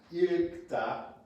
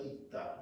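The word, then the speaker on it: 읽다: So this is pronounced not irikta. There could be a little bit of an R in there, it's okay. But it's more like ikta, right?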